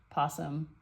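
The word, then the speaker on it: opossum: The possum, I know there's an O on it, but it's pronounced possum.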